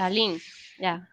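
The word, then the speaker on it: Lalín: Lalin, right? Okay. Lisa? Yeah, yes. Lalin. Yeah. Pronunciations.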